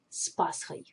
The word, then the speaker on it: С Пасхой: And we pronounce it usually very closely together, so it will sound as С Пасхой, Happy Easter.